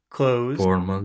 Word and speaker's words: clothes: that word sport clothes sport cloth close close like close the door sport close sport close